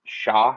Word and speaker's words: Shah: Shah, is that how you pronounce it? Yeah. What did I say? Didn't you say Sean? Same thing.